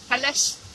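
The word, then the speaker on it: Peleș: That's how you say it? Peles. I tried to look it up and I got Pele, the soccer guy, coming up.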